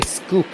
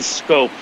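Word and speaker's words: Schoop: to say Scope, but a lot of people will say Scoop or Scoop or weird stuff like that. Yeah, I've definitely heard Shoop, but Jonathan Scope from the Netherlands, so got a different pronunciation than most.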